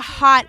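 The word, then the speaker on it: haute: And let me tell you, that's a hot... Are we playing that right now? That's a hot ass track, first of all.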